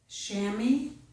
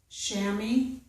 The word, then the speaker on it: chamois: So, in most words, we must pronounce the letter S, whether it is a S sound or a Z sound, but in some words, we do not pronounce that letter S, okay?